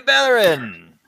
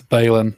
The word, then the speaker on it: Balin: He's like, "Hey, Baron!" After he's been drinking for a little bit. It's Balin. I'll actually type it so you guys can see how it's spelled. He's still gonna say Baron.